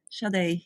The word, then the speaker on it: Sade: Sade, yes. Like How the are you? singer. Yes, like the singer, absolutely, Timothy.